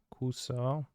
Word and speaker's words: kuso: there are okay chicuso kuso the both of them are Kusa the U is silent jigsaw Excel you're going